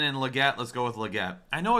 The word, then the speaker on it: Legette: Legette let's go with Legette I know it's like it's actually pronounced liette correct I've had a hard